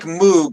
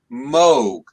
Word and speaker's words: Moog: rydial asks something about uh it looks like moog but i happen to know it's pronounced moog so apparently uh a man named moog has